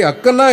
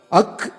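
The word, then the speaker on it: ஃ: இதை அக்கன்னா என்பது தவறு. அக் என்று உச்சரிக்க வேண்டும்.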